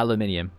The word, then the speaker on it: aluminium: Yeah, aluminium. I say it correctly. Exactly, the only way to say it, my friend.